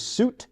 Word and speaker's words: Sjut: first name so my great grandfather's name is suit suits first name spelled sju t that's incredible